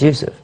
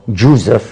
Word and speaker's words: Yusuf: what Yousaf your life my name is Yusuf but when they translate it to english they go jusef which becomes yes but actually so